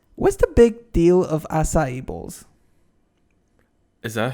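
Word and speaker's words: açaí: What's the big deal of acai bowls? Is that how you say it? Acai.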